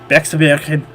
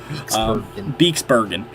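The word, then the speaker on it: Beekse Bergen: So, he was working on, obviously, the Bexbergen, I can never pronounce it, Beeksbergen.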